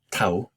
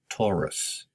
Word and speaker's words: Taurus: names in english ares taurus not tau but taurus gemini i cancer leo